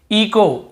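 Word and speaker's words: echo: इको, इको, यहाँ पर भी एच, ईचो नहीं पढ़ेंगे, सी एच को चा पढ़ते से ईचो नहीं, इको ही पढ़ेंगे, क्योंकि रूल यही बोल रहा है, ओ के पहले यदि एच है तो हमें एच को नहीं पढ़ना है, ठीक है, एच साइलेंट रहता है।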